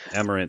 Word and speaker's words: Amaranthe: band name correctly here is it is it amaranth is that how I pronounce the band name yeah perfectly okay amaranth because you've got you you're pretty much you're